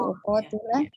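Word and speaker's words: أقاتل: Jadi Umi tadi membacanya aqatila ya, kurang tepat. Jadi uqatila Kemudian faman qala la ilaha illallahu faqad asama minni malahu wa nafsahu.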